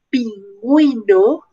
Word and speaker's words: pingüino: ponemos sobre la letra uno es para indicar que debemos pronunciar ya por ejemplo pingüino ver web si en estos dos casos la uv no tuviera diéresis el er ya hemos vendido ver getsha pero como tiene la diéresis pingüino peewee hindú vergüenza alguna